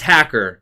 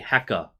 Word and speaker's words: Hacker: Yeah, so that's hacker. All right. Yeah. Well, actually, they don't really pronounce the R. It's actually hecka.